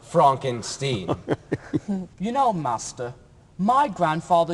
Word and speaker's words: Frankenstein: sure that's frank enstein my name is pronounced frank enstein you know master my